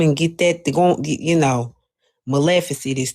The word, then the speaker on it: Maleficent: It's Maleficent like Malificent.